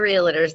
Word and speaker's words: realtor: like he was just like all the other realtor's that just called me first we got to